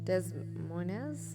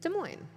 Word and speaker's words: Des Moines: do you say that does moynez no des moines it's des moines okay all right the